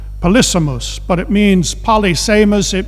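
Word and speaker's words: polysemous: was in some respects policemas actually i think you pronounce it polysimous but it means polyseymous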